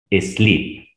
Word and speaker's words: sleep: dos son e pero tiene dos vocales ya te dije la segunda vocal que es la e no la pronuncies y la anterior que es la primera la vas a pronunciar así como en el abecedario slip sin embargo en pasado